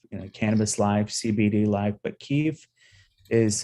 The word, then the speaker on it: kif: Yeah, so it's pronounced Keef Life, and this is well, it doesn't pass the radio test.